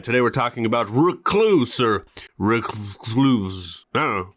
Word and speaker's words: Reclvse: And yes, that's a V right there, but I'm going to pronounce it as Reclvse throughout this whole video.